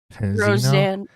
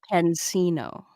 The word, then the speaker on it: Pansino: So, Squatchin, have you seen anything about this, how do you pronounce it? Rosanna Penzino? Rosanna Pansino.